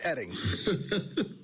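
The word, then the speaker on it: Oetting: O-E-T-T-I-N-G, pronounced Edding.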